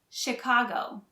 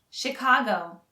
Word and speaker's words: Chicago: head mountain for chicago notice the ch is actually pronounced like an sh chicago chicago chicago chicago is known as